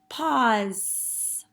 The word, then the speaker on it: pause: at that word pause it's a little tricky some of you might have heard of Z sound and put a Z but it's really an S with a silent e pause good job all right